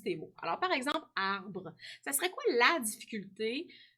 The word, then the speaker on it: arbre: Des fois, hein, il y en a qui oublient le E qui est muet, hein, qu'on ne prononce pas.